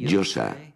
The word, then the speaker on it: Yosa: Como Joel, pero Yosa no se oye nunca. Y tampoco se oía en el mundo antiguo. La Yo, la A, que se pronuncia así, Yosa. ¿Y saben dónde oímos ese nombre?